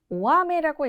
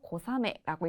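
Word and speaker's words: 小雨: 오아메라고 읽기도 하는 거 아닌가요? 하시는 분들 분명히 계실 거예요. 그 이유가 이 소자를 오라고 읽는 경우도 있잖아요. 하지만 가랑비의 경우에는요. 코라고 발음돼서 고사메라고 있습니다. 내려와서 비와 관련된 표현들을 추가적으로 알아보도록 할게요.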